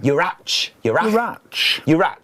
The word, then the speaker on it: Urach: That's how I grew up in Wales, so we would say the CH as a like the Scottish loch. Yeah. Urach. You would say Urach.